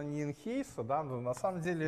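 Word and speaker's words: Nijenhuis: Эти люди, это оба голландские имена. Первое читается Схаутен, а второе читается Найнхаус.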